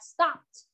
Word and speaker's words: stopped: Chữ này mình cũng không có đọc là stopped đâu, mình chỉ đọc là stopped. Stopped, âm t ở đuôi thôi.